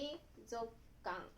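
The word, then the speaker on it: 水族館: Un autre exemple d'utilisation de « zoku » consiste à dessiner le mot « 水族かん » et à le lire comme « suizoku kan », ce qui signifie « aquarium ».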